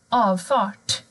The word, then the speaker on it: avfart: Har du R och T, då blir ljudet fort, avfart. Man hör inte R heller.